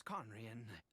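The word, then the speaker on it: Khaenri'ah: Ida and you are correct I was once conrien oh wow that's actually a good pronunciation I apologize for my earlier hostility but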